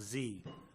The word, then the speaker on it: dZi: our work over in Nepal so it is pronounced z um I went there to climb I went